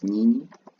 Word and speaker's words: nyinyi: You, because it is plural, the Swahili word will be nyi, pronounced as nyinyi, are eating.